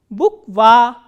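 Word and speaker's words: буква: So, again there are 2 vowels, u and a, and this a is stressed and u is unstressed. So, how will we pronounce this word? Bukva, bukva.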